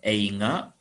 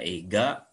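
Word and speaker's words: 映画: bacanya ga ya gako tapi kalau di akhir misalkan einga itu selain dibaca eiga Dibaca juga einga boleh ya yang gi misalkan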